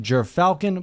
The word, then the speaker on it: Gyrfalcon: this out of the way now it is pronounced jur falcon please google it before tearing me to shreds